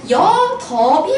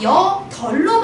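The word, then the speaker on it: 여덟: 그래서 여, 덥이 아니라 여, 덜로 발음해야 되는 겁니다.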